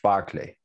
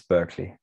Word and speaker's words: Berkeley: really in perception and that's george barclay which american americans pronounce as berkeley and have named with a mispronunciation an entire university is that true as